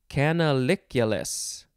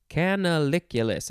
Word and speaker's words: canaliculus: Next is canaliculus. Canaliculus. I think that's how it is pronounced. C-A-N-A-L-I-C-U-L-U-S.